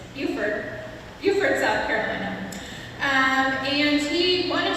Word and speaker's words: Beaufort: Galt Brown corrected my pronunciation, it's Beaufort, South Carolina.